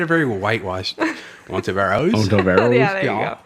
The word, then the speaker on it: Ontiveros: Ontiveros.